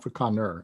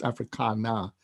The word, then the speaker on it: Africana: And by the way, excuse me, when I'm addressing South African audiences, it's spelled Africana. It's not Afrikaner, it's Africana, means African diasporic philosophy.